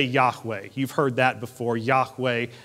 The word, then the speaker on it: Yahweh: is with you for the very name of God is pronounced like you're breathing Yahweh with every breath you